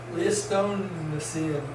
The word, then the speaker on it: Pleistocene: Okay, the Ice Age is the last completed geologic period, the so-called, how do you pronounce that? Pleistocene age. Pleistocene.